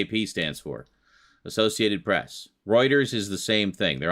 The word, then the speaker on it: Reuters: Associated Press they're both newswire services well yeah r e u t e r s anything like people that take steroids no not Reuters Reuters oh it's pronounced Reuters but um yeah that's where I